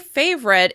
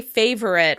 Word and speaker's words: favorite: As you can hear, when I say favorite, it's just 2 syllables long. Other people may say favorite with a schwa sound before that R. However, I personally pronounce it favorite. Favorite. If you decide to pronounce any of these words with 3 syllables, remember that the vowel sound is reduced.